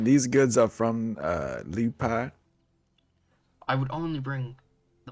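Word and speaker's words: Lieu'Paix: I come from the city of Liu Pai in the Diplomatica. How do you spell that? Liu Pai, so it's Lieu, and then a apostrophe, Paix, or Liu Pai.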